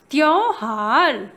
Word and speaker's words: त्योहार: I told you if first letter is half and after that य letter is coming, then we will pronounce त्य, okay? त्य, क्य, ब्या, म्या, like that we have to pronounce. So here half त एंड य is there and य letter ओ की मात्रा is there, so हाउ we will say त्यो.